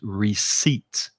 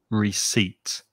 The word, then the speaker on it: receipt: bought something also notice in the word there's a silent p that you do not pronounce so the correct pronunciation is receipt receipt is jumping ahead jumped